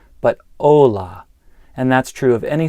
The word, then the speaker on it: hola: One is that I didn't pronounce the H. So, it's not hola, but hola.